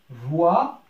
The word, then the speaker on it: voit: Samir, le frère de Zoubida, voit, le T ne se prononce pas, voit un lézard sur le mur.